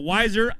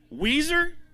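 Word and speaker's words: Weiser: up here out of wiser is it wiser Idaho Weezer who said Weezer is anybody else from Weezer all right I just want to make sure I'm not saying it wrong for the wrong reasons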